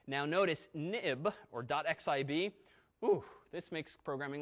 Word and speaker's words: xib: now now but also this xib file pronounced of course nib nib for historical reasons when as soon as the nib file became an XML file they renamed it xib but we still say nib now notice nib or